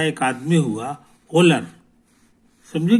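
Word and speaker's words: Wöhler: बन सकता मगर फ्रांस का एक आदमी हुआ होलर समझे कि नहीं तो होलर जो था उसका स्पेलिंग है डब्लू ओ एच एल ई आर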